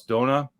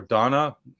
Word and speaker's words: Dona: an austrian gentleman called klaus dona or donna depending on what country you're pronouncing it in he is an